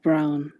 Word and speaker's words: Brown: However, his last name rhymes with town. Zach Brown.